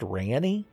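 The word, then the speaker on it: Ranni: I let her talk the whole sentence so I could hear her say the name, and I guess it's pronounced Rani?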